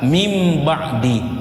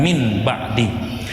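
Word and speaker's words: مِنْ بَعْدِ: Jika nun sakinah bertemu dengan ba, seolah-olah ada bunyi mim di sana. “Mim ba’di. ” Kita tidak membacanya dengan “min ba’di”.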